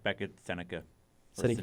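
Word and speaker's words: Sennecke: It's like Beckett Seneca. Or Seneke. Seneke, yeah.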